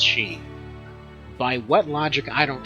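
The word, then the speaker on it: sidhe: Apparently, this isn't supposed to be pronounced as city. Like I've been always pronouncing it city. Apparently, it's supposed to be pronounced she.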